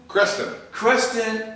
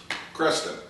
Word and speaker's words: Creston: Creston, Iowa. The tallest points between both rivers, Mississippi and Missouri. Creston.